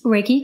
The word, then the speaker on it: Reiki: And then you had, and I may be pronouncing this wrong, but somebody who practices Reiki. Reiki, correct.